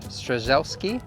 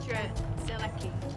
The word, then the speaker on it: Strzelecki: So on the beautiful foreshore here, we have a monument honouring Sir Edmund Strzelecki. I think that's how you pronounce it. Strzelecki.